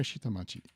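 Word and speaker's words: 下町: But in this case, we use kunyomi also, and that would be machi. So let's try shitamachi.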